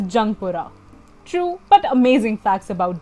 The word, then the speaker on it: Jungpura: Thus, the resettlement colony was named as Youngpura, which people pronounce as Jungpura.